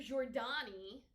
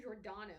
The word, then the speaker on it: Giordano: you never say it mr giordano that's what it was not jordan that's why it felt